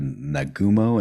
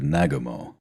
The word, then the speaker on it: Nagumo: idea so then on November of 1941 the pronunciation always gets me I've heard nagumo and then I've heard nagumo both are correct it depends if um to